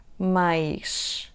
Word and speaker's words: mais: "but /mɐʃ/, more /maʃ/, more /majʃ/".